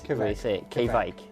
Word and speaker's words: kveik: and if anyone's wondering how you say it it's k vikings k vike k vike vike quebec from me toaster